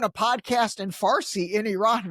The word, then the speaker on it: Iran: And then the last one is Iran. By the way, another little tip for you. So Iran is actually pronounced Iran. So pronounce it with the E, Iran.